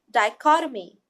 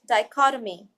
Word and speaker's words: dichotomy: together just like anatomy look at the phonetic note die just like this ad ie die cut Oh me die cause a mean and then once we combine it the tree will become soft dichotomy that structures the